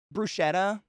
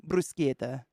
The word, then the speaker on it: bruschetta: what's the other Italian there's a lot of Italian words that we've just grown up pronouncing totally wrong in America uh bruschetta bruschetta if you go to Italy brusquieta you could be real